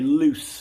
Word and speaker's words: loose: It's very loose fitting, we would say. It's not tight. It's not tight. So yeah, you lose control. Lose control. Loose with an S sound, a loose polo shirt.